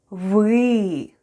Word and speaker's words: вы: The first sound is В and then we have Ы try saying e while pushing the tongue to the back of your mouth excellent try saying it with me wee well done let's have